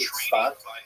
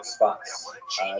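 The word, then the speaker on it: צפת: Israel city of Safed, pronounced in Hebrew Tzfat or Tzfat.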